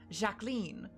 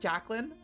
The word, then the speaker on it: Jacquine: game nights and stuff, she would always pronounce it as like Jaclyn. And I thought, "Oh, that's a funny little nickname. That's cute. I like that." I did not learn, neither of us learned for like two years that she just genuinely didn't know that my name is pronounced Jacquine.